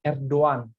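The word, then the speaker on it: Erdoğan: Jadi bukan Erdogan gitu, bukan Erdogan. Ya, kalau orang Arab itu mereka nyebut Erdogan itu Erdogan gitu kan. Jadi karena mereka ada huruf ghain gitu. Tapi sebenarnya cara membacanya itu bukan Erdogan, tapi Erdogan. Erdogan. Jadi G-nya hampir tidak tersebut gitu.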